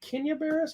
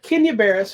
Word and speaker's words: Kenya Barris: called you people um is it Kenya Bears I always say his name wrong um it's available now in the Netflix yeah Kenya Barris who is the creator of